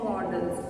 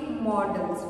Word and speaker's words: modals: with the help of modals, one more thing, pronounce it modals. मैंने बहुत सारे users को देखा है वो इसे modals कहते हैं. This is not the correct pronunciation. The correct pronunciation is modals.